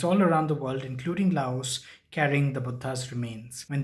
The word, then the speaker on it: Laos: Lao in Southeast Asia yes it's called Lao the S is silent Buddhism is a big